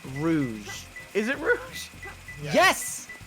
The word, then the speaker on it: Rouge: Because Rogue One. Shut the fuck up with you and your wrong ass pronunciations that we've corrected you on like 90 times.